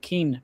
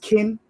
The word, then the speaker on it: Qin: I thought I pronounced it Keen printing, but Quinn Keen. Everybody, I'm in New York. I'm an American. Quinn. Yeah, sure. They told me it's pronounced kin, right?